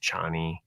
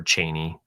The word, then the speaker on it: Chani: I mean, in the book, that character ends up being the father of Chani, or Chaney, depending on how you pronounce the name of her.